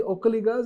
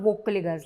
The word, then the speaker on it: Vokkaliga: And you call them Okkaligas, not Vokkaligas like we say. Vokkaliga. Vo. Okay. If you typically want to spell it in the Kannada, using the Kannada phonetic intonation and stuff like that, it's V-O, not O. It doesn't start with O, all right?